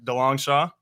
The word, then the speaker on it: DeLongchamps: I'm your host, and today I'm joined by broadcaster and sports media personality Dongshaw. I get that pronunciation right?